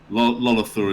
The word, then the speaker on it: Lolathor: Lolathor is a generic high elf name, by the way, that is pronounced Lolathor, because I'm a high elf.